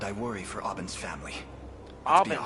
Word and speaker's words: Aubin: Aubin, that's how you say his name.